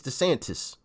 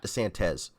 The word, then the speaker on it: DeSantis: is it the sand it's desantis not the santez i'm i'm pronouncing his